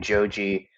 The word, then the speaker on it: Joji: channel under the name Joi which is the Japanese pronunciation of the name George and his real name